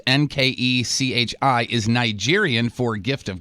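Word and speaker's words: Nkechi: got it the first name however it's actually pronounced n ke CI is Nigerian for gift of God Dio means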